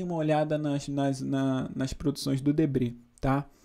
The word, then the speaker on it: Debret: Se vocês puderem, deem um Google aí em Debré, se escreve Debrete, com T mudo, tá?